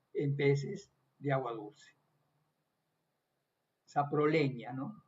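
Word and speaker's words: Saprolegnia: Saproleña, ¿no? La G y la N en latín se pronuncia como ñ. También en italiano también, ¿no?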